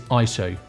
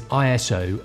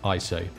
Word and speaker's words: ISO: The correct way to pronounce it is ISO. I thought it was ISO as in an acronym, but I got this wrong.